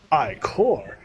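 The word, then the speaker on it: Ichor: fill it with magical iCore that's pronounced Ike or choose your iCore wisely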